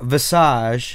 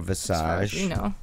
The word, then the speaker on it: Visage: it's um well it's pronounced two ways this egde or visage I don't think that's not even you know Vice egde or viscid vice äj-- or visages your trailer is submitted